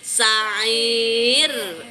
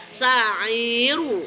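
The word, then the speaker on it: سعير: Lihat umi sa'ir tipis jangan sa'iru salah.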